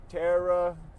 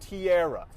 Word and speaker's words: Tara: I swear, if her name is Tiara, it is spelled so stupid. So it's T-A-R-A. So if it's it's a hard T and then you era. Tiara. No, that's not how the English language works.